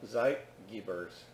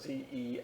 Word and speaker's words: Zeitgeber: by external cues called Zeitgebers. And that's from the German Timegeber. It's spelled Z-E-I-T-G-E-B-E-R-S.